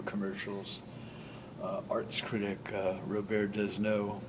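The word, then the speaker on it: Robert Desnos: uh Arts critic uh Robert desno or English pronunciation Robert desno is of France born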